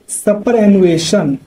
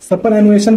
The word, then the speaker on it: superannuation: सपर एनुएशन का तुम्हारा मतलब होता है सेवानिवृत्ति या फिर पेंशन जिसे कहते हैं, लेकिन उसका स्पेलिंग होता है, सॉरी सपर बोल रहा हूँ, सुपर कहा जाता है। सुपर एनुएशन SUPER।